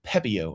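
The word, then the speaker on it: Pepiot: to be throwing out Ryan Pepio, and I know that his name does not look like that, but I've looked this up several times, and I'm pretty sure that's how you pronounce it.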